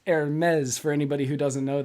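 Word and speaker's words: Hermès: louis vuitton chanel gucci and hermes that is pronounced hermes for anybody who doesn't know that i had to work on that all day today because it looks like it's pronounced hermes cosine with them or cons uh consigned with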